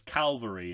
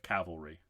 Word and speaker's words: cavalry: He says calvary instead of cavalry. Oh, says here comes the calvary. And that that's and I watch that and I go, well, he got it wrong. He's saying it wrong, but I don't